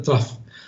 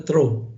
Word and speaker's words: trough: wash draft or water trough okay many students call this water throw yeah it's not correct yeah it is pronounced as t-r-a-f-f yeah watch trough or